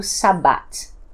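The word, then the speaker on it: שבת: Então, no hebraico, a palavra Shabbat e a palavra Shivat é a mesma palavra, porque essa letrinha ela pode ser pronunciada tanto quanto B quanto V.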